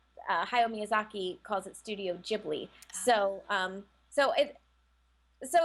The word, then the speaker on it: Ghibli: a passionate topic because technically it is pronounced Ghibli as an Italian word but Hayao Miyazaki calls it Studio Ghibli so um so it